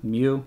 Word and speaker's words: mu: My bad, not 2, mu. It rhymes with mu.